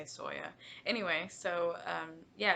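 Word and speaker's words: SYOA: It is a Stitch Your Own Adventure, pronounced Soya, even though it's S-Y-O-A, we just say Soya.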